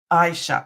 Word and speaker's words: Aisha: I then I'll remember Aisha at least I hope I remember the a is silent I sha okay I it's a long sounding eye okay thank you sorry